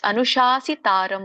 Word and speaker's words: ಅನುಶಾಸಿತಾರಂ: ಇದರೊಂದು ಉಚ್ಚಾರಣೆ ತಿಳಿದುಕೊಂಡು ಬರೋಣ ಕವಿಂ ಪುರಾಣಂ ಅಲ್ಲಿ ಅನುಶಾಸಿ ತಾರಂ ಅಂತ ಬರುತ್ತೆ ಕವಿಂ ಪುರಾಣಂ ಅನುಶಾಸಿತಾರಂ ನೀವು ಬಿಡಿಸುವಾಗ ಹಾಗೆ ಹೇಳಿ ಕವಿಂ ಪುರಾಣಂ ಪುರಾಣಂ ಕವಿಂ ಪುರಾಣಂ ಅನುಷಾಸಿತಾರಂ ಅಂತಾನೆ ಹೇಳಿ ಸೋ ಹೇಗೆ ಬಿಡಿಸೋದು ಅನ್ನೋದನ್ನ